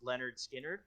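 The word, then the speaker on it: Lynyrd Skynyrd: i got her the leonard skill entered album pronounced leonard skinner okay uh just because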